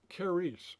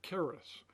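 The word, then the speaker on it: χάρις: of those letters and the pronunciation, kice or caris. That's where the word charismatic comes from.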